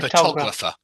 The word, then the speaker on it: photographer: person for the person and the stress moves to the or photographer even though we do say photograph so the in photograph the stress is on the very first o it's photograph yeah photograph but photographer yeah so the ination changes